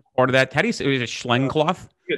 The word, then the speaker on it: Schneckloth: Is it Schneckloth? Schneckloth. Schneckloth. I could never get that right. I think it's Schneckloth. Schneckloth y Bustamante. And so what those two cases deal with, Schneckloth talks about it's the totality of the circumstances for consent.